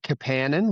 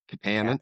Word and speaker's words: Kapanen: And he says that he likes to pronounce it Kapanen, which I try when I'm like conscious of it, but I find it really hard because everyone else that I've ever seen with that spelling is Kapanen or Kapanen.